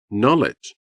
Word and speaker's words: knowledge: Knowledge. In this word, we have two silent letters. First K and W.